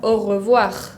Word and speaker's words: au revoir: Por ejemplo, en la palabra bonjour, bonjour, escuchan que la pronuncio. Bonjour, ahí sí suena. O lo mismo con la palabra au revoir, suena también.